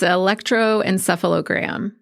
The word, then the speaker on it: electroencephalogram: Yes, it's electroencephalogram. Electroencephalogram. Mm-hmm. Electroencephalogram. I can pronounce it.